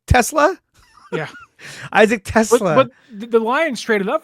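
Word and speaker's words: TeSlaa: Isaac Tesla.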